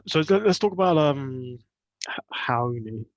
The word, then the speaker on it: Raoni: let's talk about um Hoy that's how you pronounce his name in Portuguese by the way Hoy ridiculous name let's